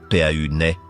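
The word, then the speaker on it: Paine: Tores signifie tour et pain prononcé pau naî et le mot natif pour bleu.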